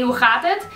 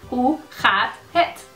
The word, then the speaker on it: hoe gaat het: Hey, hoe gaat het? I think you did the wrong setting for a translator. And that's not like, that's okay. That's okay. Just say it right now. Hey, hoe gaat het?